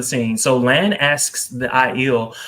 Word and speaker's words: Aiel: I think they're the Aes Sedai for the Aiels.